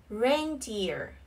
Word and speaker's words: reindeer: Ear, deer, reindeer, reindeer. Trọng âm rơi vào âm tiết thứ nhất.